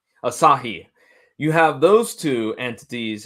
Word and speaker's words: Asahi: You have all of of the um uh cyber agent and and TV, how how's that pronounced? Asah. Asahi.